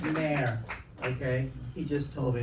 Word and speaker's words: Maher: It's pronounced Maher, okay?